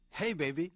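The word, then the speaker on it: Jei Beibi: now the album title I'm gonna spell the album title and then I want you to tell me how you say it Ruben its jei that's the first word and then the second word is bei bi okay so jei bei bi how do you say this to album title hey baby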